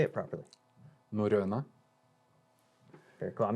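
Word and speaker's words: Norrøna: Norrona. Very cool. I'm not even going to attempt Norrona. that. I have some Norwegian in me, but as a North American would say, it's you would say Norrona.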